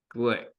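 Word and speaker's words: Glück: g g l i it's pronounced with an i instead of a u Glick thank you for the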